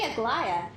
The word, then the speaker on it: Aglaya: Aglaya. That's how you pronounce her name, Aglaya.